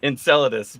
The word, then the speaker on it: Enceladus: loud how do you say it again Enceladus Enceladus bio thank you I've read the word many